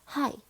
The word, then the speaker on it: high: 저번 시간에 배웠던 G랑 H를 묶어서 쓰면 묵음이 되거나 또는 우리가 배웠던 어떤 소리? F 소리로 변하기도 합니다. 라고 해요. 그래서 high, night, lap, lop 이렇게.